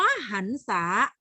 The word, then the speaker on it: หรรษา: เมื่อ อย่า ลืม หรรษา คำ ว่า หรรษา อ่าน ออก เสียง เป็น เสียง อะ หรือ เสียง อัน คะ หรรษา อะ ออก เป็น เสียง อ้า ใช่ อ่าน ออก เสียง เป็น เสียง อัน แล้ว ถ้า สรรพคุณ สรรพคุณ